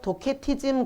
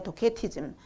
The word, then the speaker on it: 도케티즘: 그래서 가연설은 뭐냐면 그 이제 그 헬라어로 도케티즘 그래요. 도케티즘. 이제 그 이제 그 C 발음을 그냥 이제 키르도 발음을 하고 C르도 발음을 해서 도시티즘이라고도 그러는데 저 도케티즘 합니다.